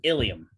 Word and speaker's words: ilium: And then homonyms are pairs of words that are pronounced almost. They're almost the same way, but they're spelled differently and have different meanings.